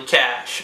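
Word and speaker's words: cache: say wi your C it's actually cash I just I said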